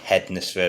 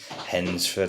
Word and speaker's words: Hednesford: I used to say Hednesford. I think the D is silent, so it's Hednesford.